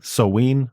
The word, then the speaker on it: Samhain: And Natasha herself is a pagan, and I learned how to properly pronounce Samhain, Samhain, I guess I should say, So, instead oh, of wow. Salmain.